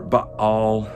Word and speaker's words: Baal: challenging the god uh baal or ba all as it's pronounced in the older language where elijah calls down